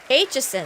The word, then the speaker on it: Aitchison: Aitchison, that's how you say it.